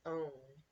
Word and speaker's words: own: But then we get to this one, and it doesn't say ow, it says O. So this word is own, spelled almost like down, but not spelled, not pronounced the same way.